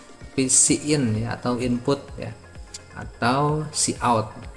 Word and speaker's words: cout: Atau cout. Ini bukan code tapi cout ya.